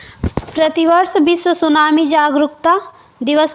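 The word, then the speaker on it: tsunami: सुनामी में जो आई जो है, ये सुनामी में ये यहाँ पे टी रहना चाहिए, ये टी साइलेंट है।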